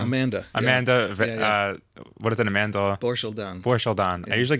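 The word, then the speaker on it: Borschel-Dan: describing, I forget, I'm going to get her name wrong. Banshel Dorshel Dam. Amanda. What is it, Amanda? Borshel Dan.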